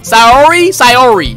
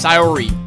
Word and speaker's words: Sayori: Sayori. That's how you say it, Sayori.